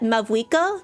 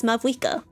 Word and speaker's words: Mavuika: Pyro Archon in Genshin, is actually supposed to be Mahuika. If I remember correctly, she's named after an Aztec or Mayan goddess, so there's an H instead of a V. But they spell and pronounce it as Mavuika, which I don't get.